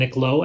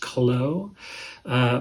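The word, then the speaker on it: Kló: released in 1980, and the band is called Chlo, K-L-O, with the accent there, so I believe it's pronounced Chlo.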